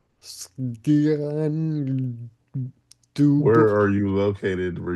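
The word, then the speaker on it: Sgian Dubh: you pronounce that? How do you go directly from an S to a G? Sgian dub.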